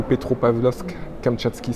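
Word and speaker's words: Petropavlovsk-Kamchatsky: En général c'est Vladivostok et Khabarovsk aussi, ou Magadan, ou Petropavlovsk, Kamtchatsky. C'est assez difficile à prononcer, essayez de prononcer après moi.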